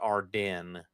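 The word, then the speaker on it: Ardennes: Believe it's pronounced Arden.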